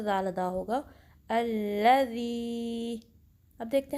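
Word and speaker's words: الذي: तो इसको ऐसे पढ़ेंगे, अल्लज़ी, ज़ी के 2 काउंट्स लंबा करेंगे, हमज़ा को लाम से मिलाएंगे, अल्लज़ी अल्लज़ी। आप भी मेरे साथ प्रैक्टिस करें, अल्लज़ी अल्लज़ी, ठीक है। ज़ाल को सही प्रोनाउंस करना है, जी की साउंड ना आए।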